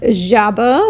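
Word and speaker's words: жаба: The next letter is the letter J. That is hard to pronounce for English-speaking people. And there are luckily plenty of words that starts with J. In class, we learned the word jaba, which means frog.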